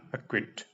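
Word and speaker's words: acquit: अक्विट, pronunciation है अक्विट।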